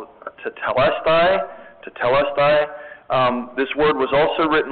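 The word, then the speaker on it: τετέλεσται: in this first sentence, it looks like the word is pronounced tetelestai.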